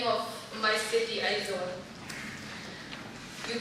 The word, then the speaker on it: Aizawl: For an anglicized instruction, you start out with an AIZ, like in maize or braize.